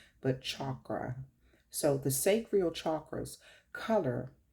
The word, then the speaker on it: chakra: but it's actually uh pronounced chakra like CH like chalk but chakra so the sacral chakras